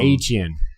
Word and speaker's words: Etienne: He now pronounces it Achan. To make it even more confusing. Etienne. Even though Etienne. It's definitely not Achan. That's just so dumb. Etienne. Yeah. Soda. Because it's a French pronunciation.